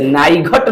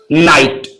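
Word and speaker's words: night: इसे नाइघट ना पढ़कर नाइट फाइघट ना पढ़कर फाइट और कघट ना पढ़कर कॉट ऐसा मतलब जी एच जो है साइलेंट होगा।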